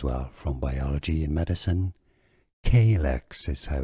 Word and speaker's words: calyx: Calyx is how it's said, 2 syllables, stress on the first one, not calyx, K.